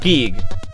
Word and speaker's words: Guigwe: again, I'm sorry if I'm butchering it, but Guigwe. Because that's technically the original intended name. It's pronounced Geeg.